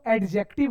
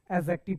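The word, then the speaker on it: adjective: कभी भी सेंटेंस में या कोई वर्ड में सर ए और जे के बीच अगर डी आए तो डी हमेशा साइलेंट हो जाता है। तो हम इसको एडजेक्टिव नहीं एडजेक्टिव पढ़ेंगे।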